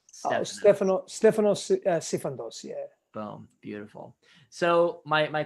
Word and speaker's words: Stefanos Sifandos: She wants to know your name, maybe the pronunciation. It's Stefanos Sifandos.